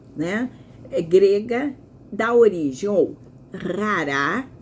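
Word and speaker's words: χαρά: Então, a palavra, né, grega dá origem ou rará, esses dois Rs aqui na garganta, rará ou xará. Essa é a pronúncia que nós damos a a palavra grega, mas comumente pronunciado como xará, com som de ch.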